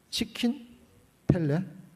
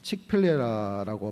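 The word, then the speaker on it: Chick-fil-A: 이거 우리나라에 들어왔는지는 모르겠는데 어 치 치킨 펠레 펠라 들어보셨어요? 예. 모르시는게 더 좋습니다.에 칙필레라고 발음하는데 이게 치킨 버거 치킨 버거 다시 보십시다.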